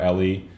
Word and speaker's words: Eli: a little bit where ellie i believe ellie not eli right someone told me uh to to that's how you're supposed to pronounce his name so ellie um he